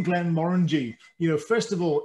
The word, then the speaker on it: Glenmorangie: and all the rest but we believe it should be pronounced glenn moringe with the kind of rolling r that you get uh in in the scots uh accent scott's language i guess